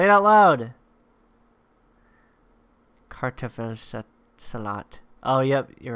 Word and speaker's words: Kartoffelsalat: How to pronounce it? Kartoffelsalat mit Ei und Gurke.